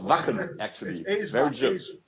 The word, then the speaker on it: Wacken: I think it's pronounced Varken. You would know better than I. It's called Wacken, actually. It is pronounced Wacken then. Wacken. Yeah, the A is more hard, basically. That's the basic German.